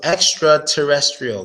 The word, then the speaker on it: extraterrestrial: And the stress goes on a re, like the re.